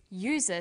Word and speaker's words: user: umbrella but a user because user sounds like it begins with a y a and an are